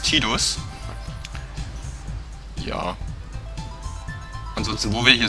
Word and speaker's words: Tidus: Also viele nennen ihn Tidus, ich werde ihn Tidus nennen, also wie er in Deutsch ausgesprochen ist, Tidus.